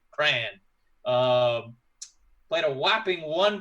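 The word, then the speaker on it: Krahn: the top ten uh brent cran uh but not spelled like the fun crayola crayon just k-r-a-h-n cran um played a whopping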